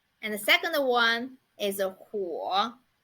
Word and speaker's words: 火: And the second one is 火.